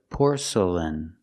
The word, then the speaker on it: porcelain: The next two syllables are not stressed. They are relaxed. Make the sound uh uh porcel porcelain. Porcelain. Put the stress on the first syllable.